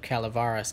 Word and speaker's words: Calaveras: Well, I've read the jumping the notorious jumping frog of Calivaris County. That's how it's actually pronounced.